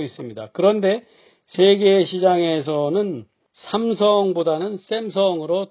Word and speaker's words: Samsung: 그런데 세계 시장에서는 삼성보다는 샘성으로 더 많이 알려져 있습니다. S가 하나만 썼는데도 쌍시읒 소리, 샘성으로 말합니다.